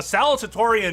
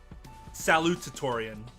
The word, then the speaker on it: salutatorian: A salutatorian is salutatorian. It's salut because it's the U, and I say it with an A because I'm from Wisconsin, and everything's an A, yeah.